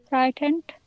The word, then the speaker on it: frightened: Frightened has a silent E at the end. Frightened.